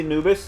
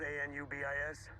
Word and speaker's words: Anubis: This is the Anubis, and the Anubis 1A was the shuttle that escaped. Spelled A-N-U-B-I-S? Uh-huh. The Anubis 1A was the stealth ship. It's pronounced Anubis, Egyptian god of the dead.